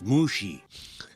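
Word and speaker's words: Mushi: Lee and Mr um mushy is it it's pronounced mushy may I just say you're like a flower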